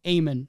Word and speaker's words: Eamon: And we have the actor, I believe his name is like Eamon, is how they pronounce it.